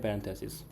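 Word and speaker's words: parentheses: पहला सिंबल होता है कि कहाँ से बताऊँ आपको, ओके, पैरेंथेसिस। सो पैरेंथेसिस जो आपके ब्रैकेट्स हैं इनको बोलते हैं पैरेंथेसिस। स्पेलिंग पे मत जाएगा, फीलिंग पे जाएगा, ठीक है।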